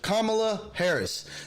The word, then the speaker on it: Kamala Harris: that his vp is uh kamala harris to say it correctly kamala harris that's his vp and